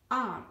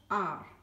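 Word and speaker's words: hour: we will see that r h o u r it begins with h but h is not pronounced it is silent so it is pronounced as r and hence it takes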